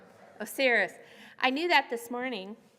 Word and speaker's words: Osiris: the god I have completely blanked on the pronunciation. It's o s i r i s. Oh, serious.